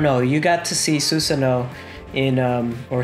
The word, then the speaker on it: Susanoo: You got to see Susanoo in or Sasano. How do you pronounce it? Susanoo. Susanoo. You got to see Susanoo in Fatal Journey.